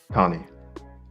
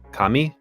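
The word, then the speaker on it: カニ: Kani. Kami? Kani. Kani. Yeah, kami is God.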